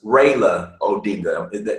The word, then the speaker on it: Raila Odinga: was going against was Raila Odinga am i pronouncing his name right raela Prioleau bingo yeah right and his is Raila